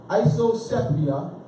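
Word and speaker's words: isopsephy: We know this is Greek because the PH is the S sound. All right, the PS, S is silent as in psychology, psych, right? We go psych.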